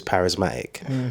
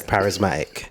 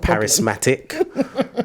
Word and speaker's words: parismatiq: it now to my Instagram handle which is parisma right and just notice how I pronounced that right I said parisma not Paris Matic or par Paris mati Q I was doing